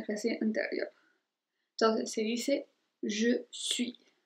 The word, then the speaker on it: je suis: Entonces se dice je suis. Entonces ahí no se pronuncia la S al final.